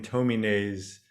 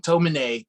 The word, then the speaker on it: Tomine: We're going to start off with Adrian Tomine's "The Loneliness of the Long Distance Cartoonist," which I just read on Andy's recommendation because he knows Adrian Tomine.